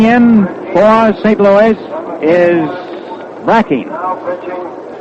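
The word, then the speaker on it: Brecheen: Louis is Bracken. Brechen. A lot of folks call it Brachine, but he says that he and his family call it Bracken.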